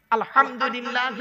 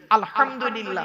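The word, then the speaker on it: الحمد لله: আলহামদুলিল্লাহ সূরা পড়েন না আলহামদুলিল্লাহি রাব্বিল আলামিন আলহামদু গলার ভর থেকে উচ্চারণ বাপেরা হাতে ধরে বলে যাচ্ছি আলহামদুলিল্লাহ মানে হচ্ছে সমস্ত প্রশংসা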